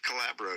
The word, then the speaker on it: Calabro: Is that how you say his name? Yes, Dave Calabro.